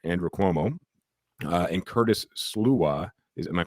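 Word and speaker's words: Sliwa: Uh, and Curtis Sluwa, is am I pronouncing that right? Silwa SWA.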